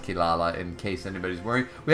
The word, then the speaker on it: Kirara: so there you go it should be pronounced kilala in case anybody's worried